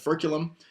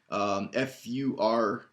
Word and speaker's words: furculum: There are other things like the furculum, F-U-R-C-U-L-U-M. It's much easier to write this on the board, isn't it? F-U-R-C-U-L-U-M, furculum, pretty much spelled like it sounds, which is the wishbone.